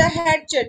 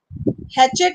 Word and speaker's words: hatchet: बरी द हैटच, बरी द हैटचेट to make peace, India and Pakistan must बरी द हैटचेट to bring about द piece to द reason. मतलब क्या होता है, बरी द हैचेट means T silent रहता है, इसका मतलब होता